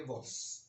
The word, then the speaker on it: vowels: अब इसको वॉवेल्स, अगर आप सिंपल उर्दू में बोल सकते हैं तो वॉवेल्स भी बोल सकते हैं, मगर इसकी जो राइट प्रोनाउंसिएशन वो आप बोलेंगे वॉल्स।